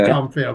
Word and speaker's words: Dronfield: I mispronounced it sorry I said dronfield is it dronfield Dr it is dronfield right okay you got it yeah know the top